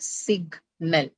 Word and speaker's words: signal: you have to put a notation before the syllable which carries the stress. So this is how you're going to do it, like signal.